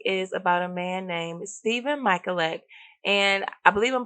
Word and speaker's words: Stefan: Today's topic is about a man named Stefan Michalak, and I believe I'm pronouncing his name correctly. It's spelled Stefan. I've seen a couple different spellings for his name, but I believe it's pronounced Stephen.